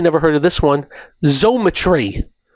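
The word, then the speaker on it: Xometry: Zometry, you spell it X M T R Y.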